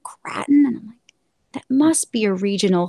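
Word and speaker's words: craton: if i'm pronouncing correctly it's c-r-a-t-o-n and i've only ever heard like one professor pronounce it and he said kraton but then i've i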